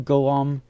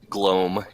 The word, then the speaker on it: Glome: The female elf looks at you, Golem. That is how you pronounce the name, right? Glome. Glome. Like Glome. Okay.